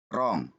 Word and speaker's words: wrong: Sebenarnya kalau dia kata itu berawalan W, kemudian huruf keduanya adalah R, maka huruf W itu tidak pernah dibaca ya. Jadi kita bacanya right, wrong, range.